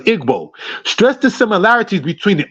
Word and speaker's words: Igbo: Oluda Equiano in Igbo, which I understand is pronounced as Igbo, stressed the similarities between the Old Testament Jews, the Israelites, and those of his own people.